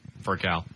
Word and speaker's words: Furcal: Furcal.